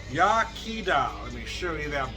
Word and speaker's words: Iechyd da: we do it so they give you the pronunciation here welsh for cheers yakida let me show you